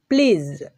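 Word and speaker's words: please: এটা এটার উচ্চারণটা হবে প্লিজ প্লিজ এই যে এই সাউন্ডটা উৎপন্ন হচ্ছে এটা হচ্ছে বর্গীয় জ বা ঝ এর মাঝামাঝি সাউন্ড এইজন্য বর্গীয় জ এর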